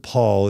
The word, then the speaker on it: Pol: The other really important essay that I was introduced to was Richard Paul. It's spelled Paul, but it's pronounced Paul.